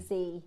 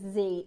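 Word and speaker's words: Dzi: Um, so it's it's written D Z I, but you pronounce it Z. Yeah. So, it's Z. Think about the instead of doing a V, you do Z.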